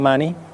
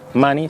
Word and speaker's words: Munny: William Munny, que por cierto, Munny, su apellido, se pronuncia igual que dinero en inglés, money, es un hombre con un pasado violento.